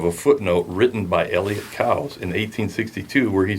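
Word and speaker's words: Coues: And I've got a screenshot of a footnote written by Elliot Cows in 1862 where he says, my name is pronounced Cows, C-O-W-Z. Cows.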